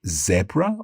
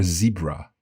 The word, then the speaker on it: zebra: Most of the time, most people in Britain say zebra, and most people in the US say zebra.